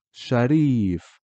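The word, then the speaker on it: شريف: Okay, notice how when it is just a kasra on the ra, it's just shariba, riba, shariba, ri. And here in sharif, the ya after the ra kasra is extending the ri to ri.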